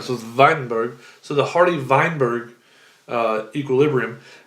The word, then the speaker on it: Weinberg: named varjun weidenberg now that w is pronounced as the v in german so the weinberg so the hardy weinberg